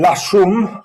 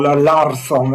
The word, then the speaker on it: Larsson: But when there is a dependence, we adapt a model by Jan-Åke Larsson, or Larsson as people mispronounce him, which was first outed